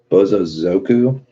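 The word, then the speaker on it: bōsōzoku: gotta spell it right b-o-s-o-z-o-k-u those but I don't the would you pronounce it bozo zoku I have trouble saying that word Bo so zoku okay well that's great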